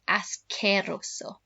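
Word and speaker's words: asqueroso: try that ascerrosso so remember qu in spanish never makes a qu sound it's always a c sound as queroso so make sure you've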